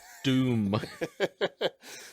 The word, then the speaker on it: Doom: No, not Dune. Doom. So, subtle difference.